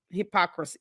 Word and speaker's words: hypocrisy: It's hypocrisy. It's 4 syllables.